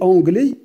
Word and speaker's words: anglais: Regarde, il est anglais. On ne prononce pas S.